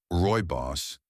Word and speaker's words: Rooibos: Rooibos tea. Often pronounced ROY-boss, this South African herb is naturally caffeine-free, rich in antioxidants, and smooth on the stomach.